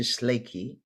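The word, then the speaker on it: Tsalagi: a cherokee native to schleichy is the appropriate name but americans say cherokee so she was a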